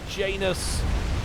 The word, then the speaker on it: Janus: but they look beautiful Janus to rhyme with anus because after a very